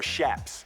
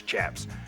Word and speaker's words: chaps: The chaps, you know, or shaps. Shaps is actually how it's properly pronounced, but everybody says chaps.